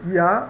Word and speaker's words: ya: tá então por exemplo na palavra ya que significa já né alguns pronunciam ya ou já tá já não é